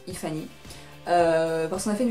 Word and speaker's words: iFanny: iFanny, pardon, ou iFanny elle prononce, iFanny.